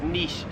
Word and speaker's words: niche: pretty common to say Niche I myself have always said Niche but in Australia no one says Niche it is Niche here in Australia 45 is this spice